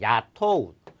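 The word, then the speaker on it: 雇う: 있는 단어도 아셔야 되는데 야토우 한자가 고용하다 할 때 고자를 씁니다 고용하다 할 때 고자를 써서 그래서 야토우 고용하다 야토 우라고 읽어 준다는 것을 야토 아래로 하면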